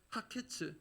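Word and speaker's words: הקץ: 그리고 끝이란 뜻의 단어는 쾌츠 이렇게 발음하는데요, 그 앞에 영어로 치면 정관사 더가 붙어서 그게 하거든요. 그래서 그 의미하는 글자가 붙어서 히브리 원문상에는 하케츠, 영어로 치면 the end 이렇게 됩니다.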